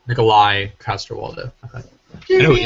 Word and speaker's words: Nikolaj: Nikolaj? Nikolai Coster-Waldau.